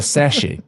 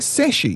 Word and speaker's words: sachet: a sort of a sassy a Sashi and you tip that in are you saying sachet weird yeah sassy she's saying sashy it's like ballet sachet it's a sash it